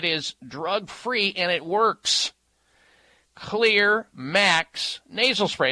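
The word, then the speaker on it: Xlear: You can find the Clear, and Clear is spelled with an X. The X stands for that xylitol ingredient, one of the ingredients in it, Clear Max nasal spray for allergy response and symptoms.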